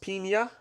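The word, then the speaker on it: piña: pronounced pina.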